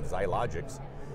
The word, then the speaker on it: Xiologix: My special guest is Sid Herron from Xiologix. And did I pronounce that yes, you did.